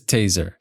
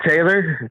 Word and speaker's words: Tayzer: So, it is taser.